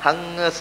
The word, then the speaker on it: ಹಂಸ: ಇದು ಕರೆಕ್ಟಾದ ಉಚ್ಚಾರ. ಸಗುಂಹಿತ ಅಲ್ಲ, ಸಂಹಿತ. ಅದರಲ್ಲೇ ಹಂಸ ಶುಚಿಷದ್ ವಸುರ್ ಅಂತರಿಕ್ಷತ್. ಹಗುಂಸ ಅಲ್ಲ, ಹಂಸ ಶುಚಿ, ಹಂಸ.